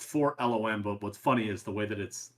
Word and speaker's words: 4-LOM: Wikipedia they have his name listed phonetically and it's spelled for E four. It's four loom.